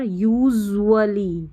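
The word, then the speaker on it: usually: हो गया यहां पर यूजुअली यूजुअली जू में ही जो है यहां पर यू का थोड़ा साउंड आ रहा है यूजुअली यूजुअली ऐसा बोलने में लिखने में नहीं यूजुअली ठीक है अब ये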